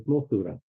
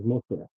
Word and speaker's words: Mosura: It wouldn't if I said it in the English pronunciation, which people always get wrong because it is not. That is, it is Mosura. The actual name is Mosura.